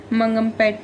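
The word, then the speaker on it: Mangampet: आंध्र प्रदेश के मंगमपेट में मिलते हैं। मंगमपेट, आई होप हमने क्लियर प्रोनाउंसिएशन इसका किया हो। मंगमपेट बोलते हैं।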